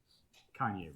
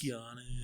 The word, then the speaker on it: Keanu: Kanye Reeves is where it's at. Kanye Reeves? Reeves. I don't know who that is. Wait, did I say the name wrong? Keanu Reeves? Keanu.